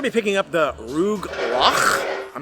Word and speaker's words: Rugelach: She said it was Rugelach.